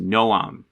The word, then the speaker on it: Noam: write the Superman comics, which is like having Noam Chomsky write Superman back in the 1970s. They have somebody who openly talked in his memoir about smoke. Noam? You mean Noam? I've never heard his name pronounced Noam before.